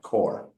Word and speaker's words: corps: But the P is silent, where you have CORP, corpse. By just putting the E on, we get ps. But dropping the E, the P goes silent, core.